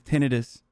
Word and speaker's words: tinnitus: Holy I can't This is like when I found out that the way the proper way to say tinnitus is tinnitis.